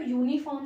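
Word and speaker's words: uniform: ठीक है, तो यूनिफॉर्म जो है उसमें य का साउंड आ रहा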